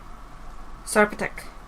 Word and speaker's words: Sarpatek: So the P, it is Sar, like C-A-R, or S-A-R I should say. And then Patek. Sarpatek. This is also the Polish version of it, so I'm not too sure if that's still pronounced right, but you know what?